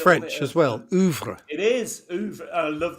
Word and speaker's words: oeuvre: Oeuvre. It is oeuvre. I love the pronunciation there. Yeah. But I'm going to tell you off and say no. It should be oeuvre. Oeuvre, as in Hoover.